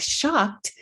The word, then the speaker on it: shocked: The phonological features are that it is one spoken syllable, not two, even though there's an ED ending, and that's because the ED ending makes a sound t in this word.